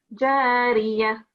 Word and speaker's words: جارية: So when you were reciting, for example, this one here, it's a re, and your pronunciation was more of, I don't know how you pronounce it, but your re sound should be more prominent. Can you start reciting this verse again? فيها عين جارية Jariya, re, very strong. It's a sharp re.